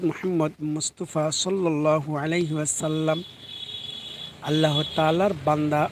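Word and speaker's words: أَنْ لَا: হামজা লাম জবর আল নুন উচ্চারিত হবে না লামকে ধরবে হামজা লাম জবর আল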